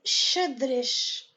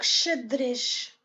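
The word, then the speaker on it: xadrez: maintenant on va voir la lettre X qu'on dit chiche de chedrich ça veut dire échec donc chedrich c'est un mot que c'est la dernière syllabe qui ont mes accents toniques et le dernier modèle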